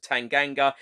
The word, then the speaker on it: Tanganga: hotspur way he walks up to defender jaffa tanganga and says to him how do i say your name correctly tanganga then replies tanganga and then mourinho says i hate to tell